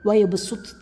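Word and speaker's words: وَيَبْسُطُ: അൽ ബഖറ സൂറത്തിലെ വയബ്സുത്ത് എന്നതിൻ്റെ ഉച്ചാരണം എങ്ങനെയാണ്? അവിടെ സ്വാദിനെ സീനാക്കി മറിക്കണം. അതായത് അവിടെ കാണുമ്പോൾ എഴുത്തിൽ സ്വാദായിരിക്കും ഉണ്ടാവുക, എന്നാൽ ഉച്ചാരണത്തിൽ സീനായിട്ടാണ് നമ്മൾ എന്താ വേണ്ടത്, ഉച്ചരിക്കേണ്ടത്.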